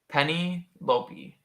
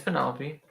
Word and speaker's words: Penelope: stacey pennell p penny lopey penelope is it not pronounced penelope it's penelope well i don't know